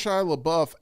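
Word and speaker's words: Shia LaBeouf: in that film uh have you pronounced Shila Buff actually perfect but Timothy shalam you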